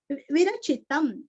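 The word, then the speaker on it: विरचितम्: ने रचाया हुआ विरचितन विरचितम वी और ची दोनों भी रस्व अनुस्वर का उच्चारण आधाम विरचितम श्री बुध कौशिक विरचितम श्री राम रक्षा स्तोत्रम श्री दीर्घ राम रक्षा स्तोत्रम।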